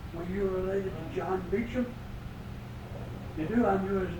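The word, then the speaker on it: Beauchamp: I spoke up and says, what is it, your name? Beecham. Now this is out in Pocatello, Idaho. I said, I'd like to try it. Do you spell it B-A-U-C-H-A-M-P? You're the only so-and-so and so-and-so and so that's ever spell that name right.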